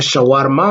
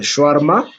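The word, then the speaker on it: shawarma: cette ça pe euh c'est choarma qui est le Congolais malheureusement mal prononce mal en disant chawarma mais c'est de choarma il versent le sperme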